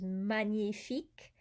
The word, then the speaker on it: magnifique: say in english sometimes magnifique the gn is nia it's not a g or an and it's